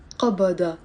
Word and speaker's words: قبض: Now, قبض in standard Arabic, as I said, we pronounce it as a qaf. If we use it with على, قبض على, it doesn't mean gripping anymore.